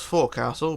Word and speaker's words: forecastle: It's spelt Forecastle, but it's pronounced Forecastle, okay?